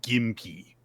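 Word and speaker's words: gympie: So, and it is pronounced gimpy. So, with with emphasis on the first syllable.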